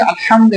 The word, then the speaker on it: আলহামদু: আলহামদু এটা বড় হা। এটা হল শেষ পর্যন্ত উচ্চারণ করতে হবে।